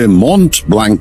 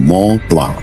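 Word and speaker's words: Mont Blanc: দেখতে পাবো তা পাবো তবে মন্ট ব্ল্যাঙ্ক নয় না বন্ধু এখন ইউরোপে এসেছেন এখানকার দ্রষ্টব্যগুলোর নামের উচ্চারণ ঠিক করে করতে শিখুন ওটা হলো ম প্লা এটা আপনাকে হংকং এও বলেছে ঠিকই মনে হয় অনেকগুলো অক্ষরের কোন উচ্চারণই নেই ফরাসিতে সেটা খুব স্বাভাবিক লালমোহন বাবু বেশ কয়েকবার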